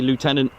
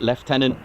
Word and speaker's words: lieutenant: So for example here as we're a United States air force base we do say lieutenant in English it is left tenant but we are a